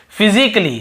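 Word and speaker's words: physically: और देखिए फिजिकली, हम क्या पढ़ते हैं, फिजिकली, ये देखिए फिजिकली, तो यहाँ पर भी ए का उच्चारण नहीं हो रहा है।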